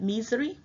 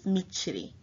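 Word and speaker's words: Mitsrayim: que me now nichiri some make pronounce it misery but in every it is michiri michiri means you plural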